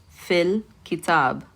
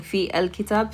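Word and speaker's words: في الكتاب: Fil kitab. So instead of saying fi al kitab, fil kitab, connecting the two together.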